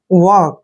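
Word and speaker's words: work: next है वर्क hard are यहां पर थोड़ा साइलेंट रहेगा वक बोलते समय वक हार्ड ठीक है ना वर्क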